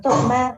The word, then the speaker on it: torma: And so the word torma in Tibetan is made up of two syllables, tor, ma.